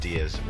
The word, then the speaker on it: Diaz: Yeah, it's pronounced Diaz.